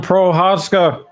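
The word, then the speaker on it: Procházka: some work with this he doesn't pronounce the c uh yeah i think it's prescott i am pro houska do not pronounce wow that's a big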